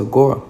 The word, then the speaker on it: agora: Strong's G58, agara. Agara. You pronounce it, today we pronounce it agora.